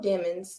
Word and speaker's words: Demons: unaliving trial so Jamil demons and I'm going to say demons like I just refuse to believe that his name his name is pronounced demons and he's on trial